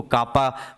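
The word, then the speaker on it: kappa: Specific conductivity, sir ये भी क्या है, स्पेसिफिक कंडक्टिविटी को याद रखना, केस रिप्रेजेंट करते हैं, प्रोनाउंस करते हैं हम लोग इसको कापा, प्रोनाउंस्ड एज कापा।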